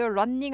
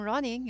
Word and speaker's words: running: 달리는 중이다 할 때도 running 아니고 running이죠. I'm running 이렇게 하죠. running. n 하나 발음 납니다.